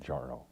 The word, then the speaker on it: Mounjaro: And it's pronounced exactly like it's spelled. Mounjaro.